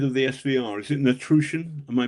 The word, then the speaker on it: Patrushev: And Natrush It's Natrusian. Am I pronouncing that correctly? Uh could could could you repeat this? It's the head of the SVR. I think it's it's it's it's it's Patrushev. Patrushev. Patrushev It's Patrushev, yeah.